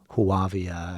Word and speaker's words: Whoovia: Whoovia, or what's an owl say? Who? Yeah.